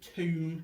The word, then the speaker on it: tomb: crawled through the tomb the spelling of tomb is a strange one it's tom you pronounce it tomb it's a bit of a funny spelling it isn't spelt how it sounds the thing crawled through